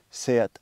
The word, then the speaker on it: SEAT: This is a standard Seat Ateca from 2018. It is spelled seat in English, but it's pronounced Seat in Spanish. It's a Spanish brand.